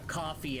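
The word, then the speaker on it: Ko-fi: to set up a coffee account or Kofi I don't know pronounced that I like to call it Kofi I know it's supposed to be coffee but it don't work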